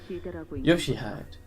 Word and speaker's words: Yoshihide: No, that's not how you read those letters. Yoshihide. That's how you say it.